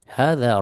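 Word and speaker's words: هذا: Ya, cara bacanya di sini bacanya dua harokat sebagaimana ini. Hadza, bukan ya. Meskipun harokatnya fathahnya biasa gitu. Tetap bacanya hadza.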